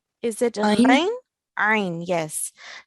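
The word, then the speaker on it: ع: So do we pronounce it from our throat or not? Yes. Yes. So make sure that whenever you find an Ain, we pronounce it from the middle of our throat.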